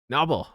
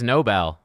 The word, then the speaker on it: Nobel: How do I How do I I don't want to hear Google Noble. It is Nobel.